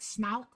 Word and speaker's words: Snauht: It's pronounced more like snout.